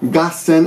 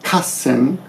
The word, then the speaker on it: 合戦: And I told you earlier that this battle or this 合戦 gassen, and it's sometimes pronounced kassen, but in this case gassen.